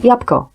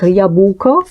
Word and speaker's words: jabłko: Il y a beaucoup de consonnes, et parfois, quand on prononce, on les serre.